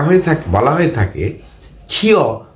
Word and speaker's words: ক্ষ: কিন্তু উচ্চারণের বেলায় এর উচ্চারণ কিন্তু হয় ক যোগ খ এর মতো। তবে শব্দের শুরুতে যদি এটি ব্যবহৃত হয় তখন কিন্তু এর উচ্চারণ খ এর মতো, যেমন ক্ষমা, ক্ষয়, ক্ষমতা ইত্যাদি। কিন্তু শব্দের মাঝে বা শেষে যদি ব্যবহৃত হয় তখন এর উচ্চারণ ক যোগ খ এর মতো, যেমন পক্ষ, রক্ষা, দক্ষতা ইত্যাদি। আশা করি সকলেই বুঝে ফেলেছ।